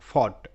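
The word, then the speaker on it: fought: ধরনের শব্দ আমরা শিখবো এখানে জি এইচ এর কোন রকম উচ্চারণ আমরা পাবো না পাশাপাশি ও ইউ জি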